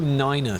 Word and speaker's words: niner: Because they say it like that, because if you say 9, it sounds like the German way of saying no, which is it does. So to avoid it being a confusion, we're back in the Alps.